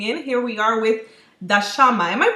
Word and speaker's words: Dashama: here we are with dasama am I pronouncing it properly I'm always wondering if pronounce it properly it's actually dashima my mother would say but you know people say it many ways that's fine for me